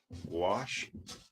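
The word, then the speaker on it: gouache: a set of paints I believe it is pronounced wash I don't know if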